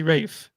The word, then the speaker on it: Ralph: yeah yeah I found in England they don't say Ralph they say Rafe which is okay so